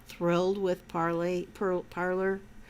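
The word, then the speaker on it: Parler: so bongino doesn't own parlor parley i said it right the first time parlor um and same thing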